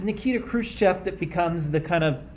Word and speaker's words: Khrushchev: It's one letter, and so if you say like fresh cheese, you get the same sound. So it's Khrushchev.